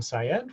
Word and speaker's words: Syed: is like coin with an M, and Syed like psychology educator, Syed.